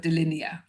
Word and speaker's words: Dilinea: i a And so you'll probably hear within there that there's the word line hiding in there linear and D for two.